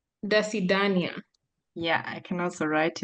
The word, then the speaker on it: До свидания: Yes, it's До свидания. До свидания.